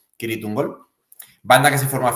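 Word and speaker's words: Cirith Ungol: doom épico kirit tungal Aunque ellos que son estadounidenses pronuncian sirit ungol creo que la pronunciación correcta es con k kirit kirit ungol banda que se formó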